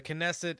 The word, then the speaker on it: Knesset: legislative body called the knesset I I checked and you do actually pronounce the k um so the knesset is essentially the the